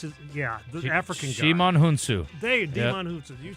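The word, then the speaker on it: Djimon Hounsou: Shimon Hunsu.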